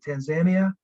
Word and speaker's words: Tanzania: sorry if you had the correct pronunciation of Tanzania the whole time and I contradicted that somewhere along the way but that's how they pronounce it Tanzania tanzanica Zanzibar um we were mostly uh in